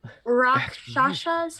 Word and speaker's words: Rakshasa: Rakshasas?